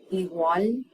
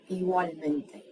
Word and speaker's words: igualmente: So it's not E and then a hard G. The G kind of, it's almost as though it were written G-W-A-L. Igual, igualmente. Okay?